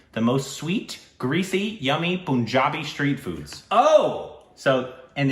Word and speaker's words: Punjab: I've been told it's pun. Punjab.